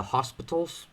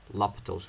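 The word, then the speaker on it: L'Hôpital: Some people say the hospitals. That's incorrect, but, just saying in case somebody says the hospital's rule and you don't know what he's talking about, but it's supposed to be pronounced L'Hopital's rule.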